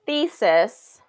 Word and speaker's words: thesis: So looking at the word thesis, there's 2 syllables in this word, thesis. Okay, 2 syllables. Which one is getting the stress? Good, I see some answers. First, it sounds like overwhelmingly, it's the first syllable there. All right, he's been working on his thesis all year. Good, first syllable stress, the.